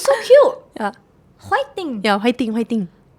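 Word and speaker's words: 파이팅: It's like a fighting, but fighting, because we don't have a F sound. Oh, sorry. But it's so cute. Yeah. Fighting. Yeah, fighting.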